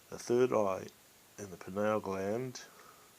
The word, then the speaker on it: pineal: Some people call it penile kind of sounding. I think that's wrong, but hey, everyone to their own, and my pronunciation is according to my country, how we speak.